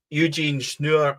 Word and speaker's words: Eugene Schnur: Eugene Schnur, I'm reliably now informed that's how you pronounce it.